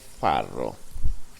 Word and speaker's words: farro: taste I like it a lot it's called farro farro let me spell it for you f a r r o